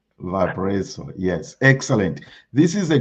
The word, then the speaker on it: Valparaiso: Valparaiso. Is that how you say it? Yeah, Valparaiso. Valparaiso, yes.